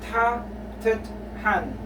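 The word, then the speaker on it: 따뜻한: So tatuthan, warm, always pronounced as double T. So we have the sang digot, which is the double T.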